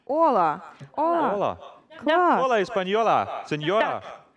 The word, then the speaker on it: Hola: Але коли, наприклад, я пишу слово «привіт», читаю, Hola. Але Аче не читається. Так. І як буде? Хола. Аче не читається. Ола.